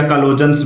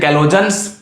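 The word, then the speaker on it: chalcogens: ठीक है, ये जो ऑक्सीजन है इनको एक और नाम देते हैं ऑक्सीजन फैमिली को, काल्कोजेंस या कैलोजेंस भी नाम देते हैं। सी साइलेंट मान लो, इसमें कैलोजेंस इनको नाम दिया जाता है।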